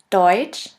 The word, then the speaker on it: Deutsch: next letter combination is which is simply pronounced like CH in English here we have the example of the word Deutsche Deutsch which means German and